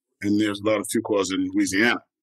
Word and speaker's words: Fuqua: But my name is well known, and there's a lot of Fuquas in Georgia, and there's a lot of Fuquas in Louisiana. And I've been saying it wrong. I say Fuqua. It's Fuqua.